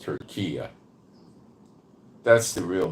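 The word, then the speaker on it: Türkiye: Now, they like to have the name of their country pronounced Turkiya.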